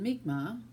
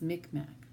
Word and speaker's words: Mi'kmaq: were French Acadian and meek ma or the Anglo pronunciation is Mi'kmaq his family remained quiet